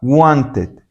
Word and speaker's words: wanted: Y lo que vamos a hacer es pronunciar LD tal y como está. Wanted. Wanted. A veces, incluso en un inglés más rápido, se termina diciendo want it, want it, pero se pronuncia el edit.